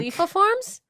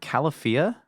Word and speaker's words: Califia: Khalifa Farms? Isn't it Califia? Is it? I've been Like, calling just it... read the letters on it. The letters are the clue to how you pronounce it. Califia.